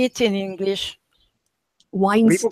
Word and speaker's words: Weinstein: Why do they pronounce it Weinstein? Because it's two German words, Wein und Stein, Weinstein, right?